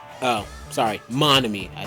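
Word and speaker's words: Monomi: scary face i'll tell you you know it's mommy oh sorry monomy i said it wrong yes it was me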